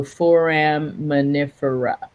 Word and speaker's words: foraminifera: So foraminifera.